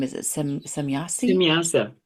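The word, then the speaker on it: Semjase: if we took off, and how do you pronounce the name? Is it Semyasi? Simyasa. Semyasa.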